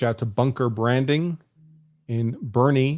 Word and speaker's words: Bernie: So I see someone recommending in the comments, I reach out to Bunker Branding in Bernie. You spelled it wrong, but that's how it's pronounced. Bernie, Texas.